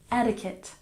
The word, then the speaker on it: etiquette: debris and number six etiquette stress the first syllable etiquette etiquette etiquette and number